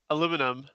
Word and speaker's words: aluminum: I see Scrivo saying aluminum, but is it aluminium? Aluminium, yeah. I say aluminum. That's their weird way to pronounce that, yes.